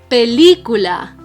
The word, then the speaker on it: película: The word película, which means movie, do we say película, película, película, or película? We say película. The strongest syllable is the third to last. That's why we call it una palabra esdrújula.